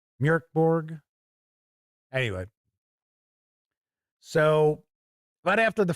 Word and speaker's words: Mörk Borg: I try to pronounce it the correct way. It's supposed to be like something like Mörk Borg, Mörk Borg.